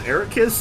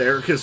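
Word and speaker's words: Eraqus: way I love that the game and blink myself have pronounced it multiple times as air kiss and you keep pronouncing it as Eric please oh no Eric quest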